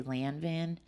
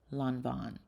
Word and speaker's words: Lanvin: I almost picked up this Lanvin. I used to say Lanvin, and a couple of my French friends made fun of me. I'm pretty sure it's pronounced Lanvin. So sad.